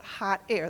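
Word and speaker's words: Hahtayre: the Great Goblin poet hot air that's spelled h a h t a y r e by the way it's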